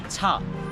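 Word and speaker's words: 茶: চা শব্দটা কিভাবে এসেছে চাইনিজে চাকে বলা হয় ছা যেটার ফিনিন হলো সি এইচ এ সেই ছাটাকে কিন্তু আমরা বাঙালিরা মূলত চা বলে থাকি উচ্চারণ বিশেষে এবং এটাকে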